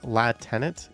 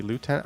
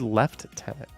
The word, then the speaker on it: lieutenant: i can say that we don't say la tenet it's definitely lieutenant i thought you said left tenant don't americans say left tenant funny dog says we're